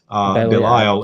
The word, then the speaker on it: Belial: Some people pronounce it as Belial. Belial is that name.